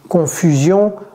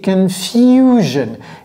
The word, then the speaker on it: confusion: C'est confusion. Et vous voyez ce que j'ai fait ici avec le F et le U? J'ai dit few.